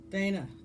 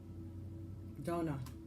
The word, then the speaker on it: Danu: Dana, the High Priestess. Donna. Okay, that's how I want you to pronounce it.